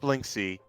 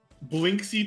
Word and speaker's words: Blinksy: It's not Blinksy. Blinksy's toy store. How do you pronounce that? Or how do you spell that? Blinksy, literally how it sounds. Blink, S-Y.